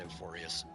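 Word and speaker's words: Amphoreus: with me to The main place is called Emphorius, or they pronounce it emporius.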